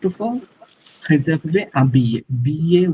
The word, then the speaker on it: billet: Billet wordটা ইটস billet, না ইটস billet, double L সাইলেন্ট, billet।